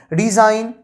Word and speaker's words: design: इससे आपको word pronunciation में बहुत ही ज्यादा इंप्रूवमेंट मिलेगा गाइस, कि कैसे किस वर्ड का कब हमें प्रोनाउंसिएशन करना है। तो यहां पे डिजाइन, डिजाइन, साइन, जी है, तो जी के जस्ट बाद एंड रहे तो जी हमें साइलेंट कर देना है गाइस।